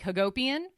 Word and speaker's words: Hagopian: guys who know Armenians if your last name rhymes with Armenian like Hagopian you're you're either an